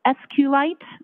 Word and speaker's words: SQLite: It is capital SQL, lowercase I-T-E, and SQLite is also commonly pronounced as SQLite, so both pronunciations are acceptable.